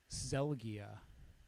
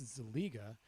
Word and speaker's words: Zeliga: They say Zelgia. Zelgia? Zelgia. So, but it's weird. Oh, Zelgia is close. I could see that. You're just probably like, oh, the S is silent. Zelgia. Yeah, no, but they're transposing translating the I, right? It's Zeliga. The I is before the G, and somehow magically it moves to after the G.